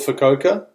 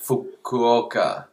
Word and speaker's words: Fukuoka: going on there look isn't it called for coca not sure yeah they pronounce it Fukuoka oh cool can I